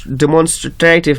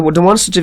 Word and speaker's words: demonstrative: اینا زیادتر شاگردها demonstrative میگن چون تلفظ غلط است. کلمه demonstrative تلفظش demonstrative است. demonstrative نیست. demonstrative.